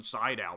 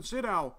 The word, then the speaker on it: Sydow: Max von Sydow is in it, which I just recently found out his last name is pronounced Sydow. I've been calling him Max von Sydow for years.